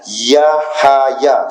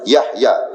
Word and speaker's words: Yahya: Saya tengok kitab Jawi, dia tulis Kaf Yaya, bukan Kaf Yaya, Yahaya sebenarnya. Yang Rumi tak ada masalah hasilnya. Rumi tak ada masalah sebab dia tulis ABC dah. Yang ni ejaan sini, dia tulis Kaf Yaya, bukan Kaf Yaya, tapi betul kan? Yahya.